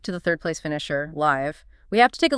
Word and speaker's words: Live: Is it pronounced live as in playing live or live as in live and let live? The source confirms it's the former live as in livewire, right?